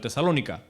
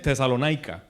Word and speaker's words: Tesalónica: ¿Cómo se dice en español? Tesalónica, ¿verdad? En inglés es Tesalona. Tesalónica.